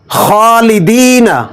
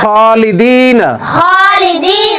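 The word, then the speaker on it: خالدين: খ হলো না এজন্য খালিদিনা বলতো খালিদিনা খালিদিনা যারা এই খ টাকে উচ্চারণ করতে পারে না বাংলা খর মতো উচ্চারণ করে তারা বলে খলিদিনা খলিদিনা খলিদিনা বললে ভুল হবে এটা হবে খালিদিনা সুন্দর দাল দাল দাল দাল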